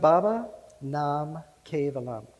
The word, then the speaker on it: Baba Nam Kevalam: in Sanskrit that can open your heart it's pronounced baba nam kevalam you want to repeat that after me baba